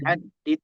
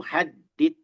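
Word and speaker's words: حدّ: Bab had babu haddit tajwid. Babu haddit tajwid. Bab bab taj had bacanya bab had tajwid babu haddit tajwid babu had haddit tajwid dalnya bertasdid Pak Juan hadd haddi haddi. Nah, dalnya bertasydid.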